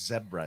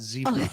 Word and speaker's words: zebra: zebras by the way it's zebra it's not zebra not zebra no Ze zebra is an incorrect pronunciation of that animal it's Ze ra you know